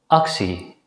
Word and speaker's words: actie: If the letter combination TEA at the end of a word is preceded by the letter C or P, it's usually pronounced as si. In this situation, the letter T is pronounced as a voiceless consonant S.